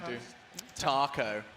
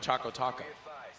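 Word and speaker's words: chocoTaco: it wrong a guy do taco doesn't rhyme we're talking oh oh yes choco choco taco oh it's supposed to rhyme yeah it's got a flow to it that you're not quite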